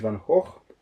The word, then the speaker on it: Van Gogh: Vincent van Gogh. Van Gogh, yes, I know this is the way you should pronounce it. He was from the Netherlands.